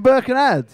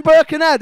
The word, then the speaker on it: Birkenhead: Right, you're not from Birkenhead if you have to pronounce the H in Birkenhead.